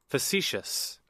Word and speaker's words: facetious: And let's see how it's pronounced here. Facetious.